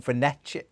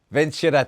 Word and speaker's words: Vincere: And you were telling me before we come on air about there's a Twitter account, and I'm going to say it wrong, Venezia, is it? Vincere, there you go, Vincere, and they're almost